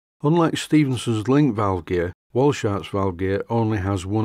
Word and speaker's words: Walschaerts: And there are quite a lot of moving parts in the Walschaerts valve gear. I think I've got the pronunciation right. I always call it Walschaerts, but I think it is actually pronounced Walschaerts.